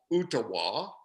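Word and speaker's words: Ooltewah: small town a suburb of Chattanooga it's called utaa and it's spelled o o l t e w a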